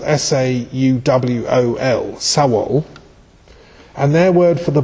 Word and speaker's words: sawol: also the word soul, which in Old Anglo-Saxon is spelled S-A-U-W-O-L, sawol, and their word for the body was a sawolhus, which I think is really a soul house.